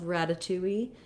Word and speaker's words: ratatouille: up too much so you will hear a little bit of a wii at the end tui in this pronunciation of ratatouille then the first um syllable has a little stress so we do have the a black cat vowel there it does sound like the word rat or the word rad because